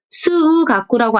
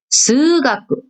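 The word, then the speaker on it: すうがく: 그래서 스우가꾸라고 안 읽고 스가꾸, 스가꾸 이렇게 발음을 한다는 거죠.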